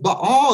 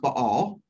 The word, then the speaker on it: Baal: is God worship him or follow him if but all is God by the way it's pronounced by all right did you know that I've just learned